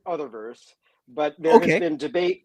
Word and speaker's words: Utherverse: so um it's it's Uther verse is that correct Uther verse I just want to make sure I say it right okay so I pronounce it other verse but there has been